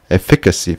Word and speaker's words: efficacy: Wie spricht man das aus? Efficacy.